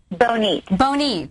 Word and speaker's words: Bonite: So you were saying that you saw, do you say Bonite? Is that how you pronounce her name, Bonite? Bonite.